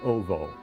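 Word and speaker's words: -owo: There's a suffix in Polish, O-W-O, pronounced ovo.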